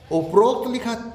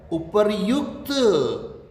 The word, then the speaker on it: उपर्युक्त: उपरोक्त लिखते हैं, ये गलत है। उपरोक्त नहीं होता है उपर्युक्त, उपर्युक्त। तो क्या होगा? उपर्युक्त, उपरोक्त नहीं होगा।